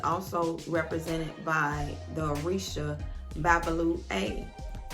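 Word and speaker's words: Babalú-Ayé: represented by the arisha babalu a if i have not pronounced it correctly you can look it up it's b a b a l u hyphen a y e and this god um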